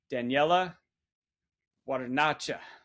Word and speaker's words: Daniele Guarnacci: today we have one of their program managers Daniela what a nacha I hope I got that right Daniella welcome